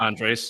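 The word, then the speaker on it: Andrés: Andreas is how you pronounce that.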